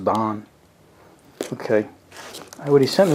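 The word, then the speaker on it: Daan: up too bad there it's a d-a-a-n i guess it's pronounced don okay what he sent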